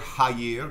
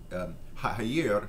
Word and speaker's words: haïr: Talk about this word, haïr, the pronunciation haïr, which is different from international French, haïr, and is the word we use to hate.